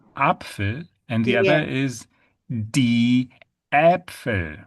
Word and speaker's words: die: That is die. D Yeah. D. So it's a combination of E and E. E, E. Yeah, we pronounce E.